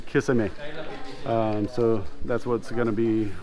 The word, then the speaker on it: kisame: Kiss me. Kiss me? Kiss me. Bad English pronunciation, kiss me, but kisame.